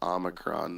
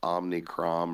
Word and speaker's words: omicron: to pronounce it right it's omicron not omnicrom or yeah i haven't even